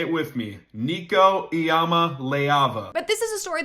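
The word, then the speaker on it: Iamaleava: I'll make it simple. Here it is. Niko Ayama Leava. Say it with me. Niko Ayama Leava.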